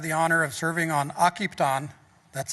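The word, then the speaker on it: Akiptan: Directors also have the honor of serving on occupy on that's how you pronounce our CDFIs name and working towards that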